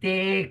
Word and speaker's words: te: And then the word is take, take. E is pronounced A. Remember A, A, yeah. Okay, okay. E is not pronounced E, you know. E is pronounced A, A, huh?